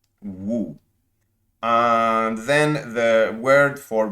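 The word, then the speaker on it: 無: please bear with me it's the word woo so it's w u with an accent woo and then the word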